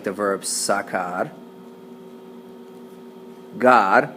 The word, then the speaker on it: sacar: It makes a hard C sound. It sounds like sacar.